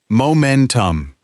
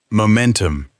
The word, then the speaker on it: momentum: its own momentum and listen to the pronunciation momentum the stress sits in the middle very natural usage build momentum lose momentum keep your momentum 3 collocations for free say it again momentum momentum our third word is